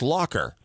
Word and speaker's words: Lacher: It was actually pronounced Lacher. And then come to find out it's not Lacher or Lacher, it's Lacher.